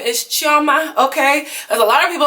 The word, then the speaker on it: Chioma: no idea to start off my name is Charma okay a lot of people always want to talk about how I say my name um I know how to say my name okay I'm will chiama I am Lord okay now I got